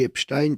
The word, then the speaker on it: Epstein: Moi, je dis Epstein parce qu'on dit Einstein, donc Oui. j'ai tendance à garder le Stein.